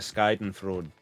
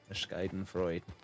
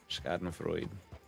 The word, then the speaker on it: Schadenfreude: A little bit of the Skyden fraud. Schadenfreude. Was it Schadenfreude? Either way, it's enjoyment in somebody else's misery. Getting that and watching us get fucking murdered. Schadenfreude. Pretty sure that's how it's said.